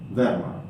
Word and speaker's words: Verma: Yeah, so I mean, you pronounce it Verma.